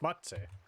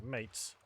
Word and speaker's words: matse: Apparently, according to one Dunmer, it's pronounced matse. Small chest. I always pronounce it mates.